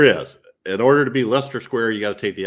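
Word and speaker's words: Leicester Square: humor so that's why the unpronounced IC right in the middle seems unnecessary but Lester Square all right we will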